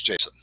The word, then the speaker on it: JSON: instead by the way json i've told i pronounce it but then i heard a guy the guy who invented it speak at a conference and he calls it jason so it's jason now when you return data